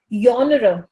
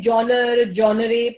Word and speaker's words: genre: and the word is yawnerer. ज़्यादातर लोग इसे genre pronounce करते हैं.